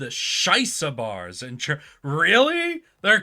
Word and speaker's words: shisha: It's pronounced Shisa. Okay. That makes more sense. I'm looking at that. I'm like, that looks like shyster.